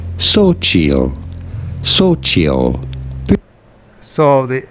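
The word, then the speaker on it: Xochitl: have to know that the x is pronounced like an S and the t is silent once you know this it's pretty straightforward simply say so chill so so the x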